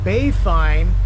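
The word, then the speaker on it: Baie Fine: Bay Fine is spelled B-A-I-E. Second word, F-I-N-E.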